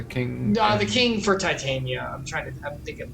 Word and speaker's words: Titania: It's a children Tatiana. Oh, my bad. Titania.